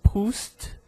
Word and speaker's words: Proust: Por exemplo, um nome famoso é Proust. Então, Proust, eu pronuncio o T, esse T mudo, né? Sem um som vocálico em seguida, o T, apenas, Proust.